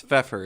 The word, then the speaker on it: Pfeffer: Is it Pfeffer? Am I saying it right? It's Pfeffer. It's German for pepper.